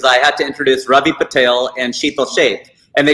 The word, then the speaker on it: Patel: who pronounces them right it's patel and i've had tails tell me it's patel i'm like you are wrong it is not the tell it's patel sit down don't don't